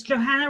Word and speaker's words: Johanna: So just to bookend the name thing, it's Johanna rhymes with banana, saccharin like savarin coffee or saccharin, the sweetener.